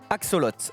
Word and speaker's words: axolotl: faux avec une autre attention à bien prononcer son nom axolotl haxo lol haxo axolotl voilà ce petit amphibien